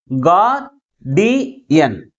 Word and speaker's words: guardian: Guardian. 3 syllables. And also this word ends with IAN suffix. IAN suffix. That's why the primary stress is on the third syllable from the last.